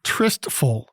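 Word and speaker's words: tristful: the day well the word of the day is two syllables trystful t-r-i-s-t-f-u-l it is an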